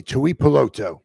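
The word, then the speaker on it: Tuipulotu: to Apollo 2 I peloto defensive man from USA Tui poloto there you go that's his name glad he pronounced it right I was too stupid to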